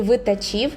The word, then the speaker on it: Витачів: мене виникли проблеми, бо куди наголос ставити правильно, дуже було важко розібратися, а люди в інтернеті не пробачають неправильні наголоси. Вікіпедія і працівниця на касі сказали, що правильно витачів, що для мене в принципі було здивуванням.